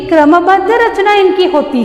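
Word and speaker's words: ऋ: देखिए बच्चों, स्वर अ, आ, ई, ऊ, ये है री। इसे क्या कहते हैं हम? री। इसका उच्चारण री होता है।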